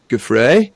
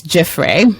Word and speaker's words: Giuffre: to and that's around virginia gaffrey am i no jaffray i've said it wrong down below how am i supposed to say that name well i'm humbly submitting it's jeffrey and if somebody else